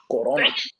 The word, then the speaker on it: Corona: The only one I know how to pronounce correctly. Corona.